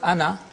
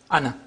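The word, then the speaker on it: أنا: Hamza plus Noon Fatha, ana, not ana. So it has two pronunciations. One in pausal form, where alif is pronounced, ana.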